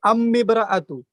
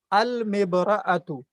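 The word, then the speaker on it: المرأة: اس میں نہیں کہہ سکتے امبرأتو. ٹھیک ہے، امبرأتو نہیں کہہ سکتے، بلکہ اس میں الف اور لام دونوں کا تلفظ ہوگا. المبرأتو، المبرأتو. ٹھیک ہے.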